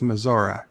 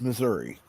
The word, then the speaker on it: Missouri: I'm kidding I'm kidding I know it's maora yeah baby you're I'm sorry that's how Grandpa Simpson pronounces it okay it's wrong it's Missouri you're telling Grandpa Simpson